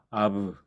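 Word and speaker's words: אב: 음, 그래서 앞브가 아니고 브를 굳이 발음해 준다면 아브 이렇게 되는 거죠. 앞브가 아니고 아브.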